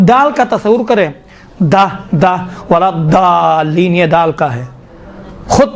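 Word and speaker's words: ولا الضالين: مشکل ہے انشاءاللہ تعالیٰ، یہ ضاد کا تھوڑا سا دقت کریں، ولا ضالین، دیکھیں ضا کہاں بعد نہ، ضا میں دیکھیں ولا ضالین کہیں گے تو کیا ہوتا ہے؟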